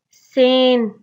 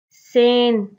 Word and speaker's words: Seine: Sixth one, Seine. Seine, and seventh one is Volga.